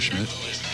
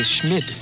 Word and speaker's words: Schmid: Yes, John Jacob Jingleheimer Schmidt. Is that it? It's Schmid. Oh, Schmid, I'm sorry. You say Schmidt. I say Schmid.